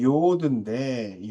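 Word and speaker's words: יוד: 그 다음에 열 번째는 이제 요드인데 요드라고 읽고 글자의 오른쪽 맨 위에 있는 칸만 쓴다라고 이야기했죠.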